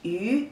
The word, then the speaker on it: 于: This means off or at, and pronunciation is yu, yu, yu, second tone.